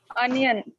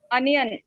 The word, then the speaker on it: onion: you tell this one onion sorry please repeat onion correct the reason why mention many of us we are smart enough C people other people they say as onion not onion remember onion onion lettuce lettuce and it